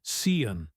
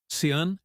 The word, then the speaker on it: Sean: Ela o chamava de Sian, mas na Irlanda Sean é pronunciado era como se ela tivesse aprendido a palavra lendo, não ouvindo.